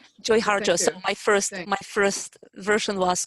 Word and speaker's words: Joy Harjo: And Nia, how do you pronounce her name? It's Joy Harjo. Joy Harjo.